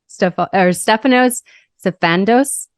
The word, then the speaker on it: Stefanos Sifandos: Stefanos Sifandos.